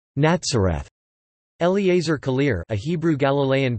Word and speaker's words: Nazareth: Nazareth is not spelled with the Z sound but with the Hebrew Sadi, thus, Nazareth or Nazareth.